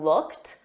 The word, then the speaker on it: looked: The ED on looked is pronounced as a soft T.